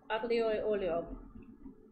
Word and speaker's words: aglio e olio: Aglio e olio.